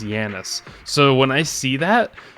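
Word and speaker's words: Janus: You see, I see Janice. J A N U S. And there was an Overwatch League player who I think people called Janice at first, but he was actually pronounced Yanis.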